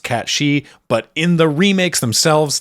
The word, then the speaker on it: Cait Sith: Now, as I've already alluded to twice, technically, I know it should be pronounced Cat She, but in the remakes themselves, they just say Cait Sith because they've realized that